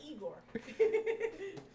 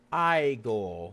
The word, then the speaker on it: Igor: That's Eigore. What? That would be No, no, no. It's pronounced I go.